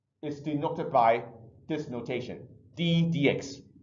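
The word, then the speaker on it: d/dx: differentiation the process is to notify this notation d DX T over DX so it usually pronounced just D DX this is a number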